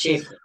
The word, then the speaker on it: Schafer: How do you pronounce your surname also? So Schafer. So it's Schafer.